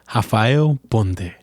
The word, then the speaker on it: Rafael Ponde: I'm talking about my man, Rafael Ponde, or as I should pronounce his name, Rafael Ponde.